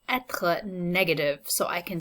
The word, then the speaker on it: être: The second topic is going to be le verbe être. So try to pronounce that one after me. Être. You're going to hear that kind of strong sounding R in the second syllable.